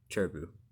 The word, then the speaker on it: Cherubi: that i just saw a few seconds ago cherubi i don't know how to pronounce that one pachurisu chimeko honda edge churibu i oh i need to learn how to pronounce that right cherry boo cherry boo there we go and marowak and so see